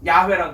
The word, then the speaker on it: 야훼: 그런데 이 사람들은 이거 딱 보면요, 야훼라고 발음이 돼요. 야훼라고.